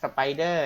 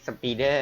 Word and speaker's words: spider: อย่าง ผิด นะ ครับ อ่าน ว่า Spider นะ ครับ ไม่ ใช่ speaker นะ ครับ อ่า นขำ